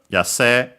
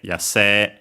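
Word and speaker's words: 野生: Ei, nowadays mostly pronounced as long e, yase. Some still pronounce it as sei.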